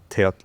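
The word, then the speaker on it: teotl: For non-Nahuatl speakers, just every time you see a TL ending, forget the L. Just pronounce the T and you'll be good.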